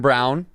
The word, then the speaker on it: Braun: Sometimes there's basic changes, like Kansas is Christian Brown. It's spelled Braun.